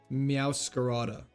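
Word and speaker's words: Meowscarada: Meowcarta. You say it like masquerade. Meowade. Meow scarada. Like that. Meowcarada.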